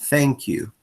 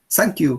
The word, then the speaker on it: thank you: Así como, nosotros preferimos decir thank you en vez de thank you, ¿cierto? No decimos thank you, thank you. Lo pronunciamos mal porque lo estamos pronunciando como una S y no como una th.